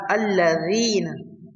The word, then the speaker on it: الذين: The dhal in alladhina should be pronounced by placing tip of the tongue against the upper front teeth. Dhal alladhina.